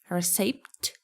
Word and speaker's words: receipt: Receipt. Receipt. It's receipt. Receipt. So P is silent here.